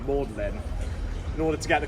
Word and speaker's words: Magdalene: from the Bible but used the French pronunciation of her name mlin in order to get